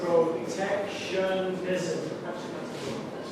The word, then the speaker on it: protectionism: So this word has 4 syllables, right? We've got protectionism. Okay, protectionism. So here is the stress, right? That's where we say the word a little bit louder.